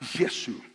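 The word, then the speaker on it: یسوع: Nadie se llama a Jesús y se pronuncia la palabra Yesu.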